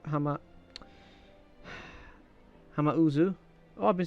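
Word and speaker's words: Hamauzu: final fantasy vii uh okay this is from hamizu hama hama uzu oh i've been saying his name wrong sorry um at the time i didn't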